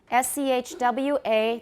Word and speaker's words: schwa: S-C-H-W-A.